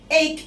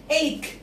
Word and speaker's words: ache: طب ache. Ache. السي والإتش هنا اتنطقت ك. Ache. يبقى السي والإتش يا زياد ما اتقالتش تش. ركز معايا.